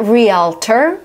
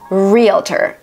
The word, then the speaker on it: realtor: Some people pronounce it as a realtor. I talk to a realtor. And I know in some languages it's actually realtor would be the right pronunciation, but in American English it's realtor.